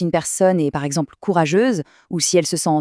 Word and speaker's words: courageuse: Faites bien attention à la prononciation, c'est un peu différent au féminin. On a courageux pour un homme et courageuse pour une femme. On entend bien ce petit son z à la fin.